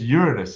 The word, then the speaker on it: Uranus: thank you uh Ur in is it it's Uranus is actually the correct pronunciation did you know that yeah and there's